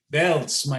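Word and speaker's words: בעלז: is pronounced as the the z is like a t z belts you can see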